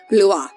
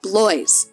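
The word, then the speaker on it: Blois: have adela countess of blue it is spelled b-l-o-i-s so in english i want to call her countess of blows but no i ask someone who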